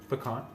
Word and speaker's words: pecans: Pecans in Alabama. Pecans? Oh, you're in Alabama. That's right. I forgot. It's like P-A-H, pecans? P-A-H space C-O. Yeah, that's how they say it.